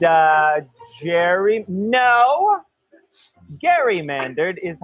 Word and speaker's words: gerrymander: to be gerrymandered i said uh jerry no garymandard is how it should be pronounced there's a term called gerrymandering some people